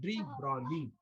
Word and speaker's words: de Broglie: G is silent here. It is called de Broglie.